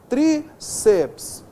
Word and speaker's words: tríceps: Essas palavras não são proparoxítonas, veja só, tríceps, forceps, elas são paroxítonas, nós temos apenas duas vogais aqui, duas sílabas, está vendo só?